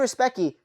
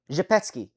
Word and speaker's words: Zhepetsky: Damien Respecki. Hey, you have my Respecki, man. Hey, wait, how are they pronouncing it? Zhepetsky. Damien Zhepetsky. I knew there was a fucking weird way to pronounce this last name.